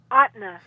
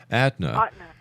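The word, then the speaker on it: Ahtna: sorry, Sandy, how do you how do you pronounce that? Atna. Atna.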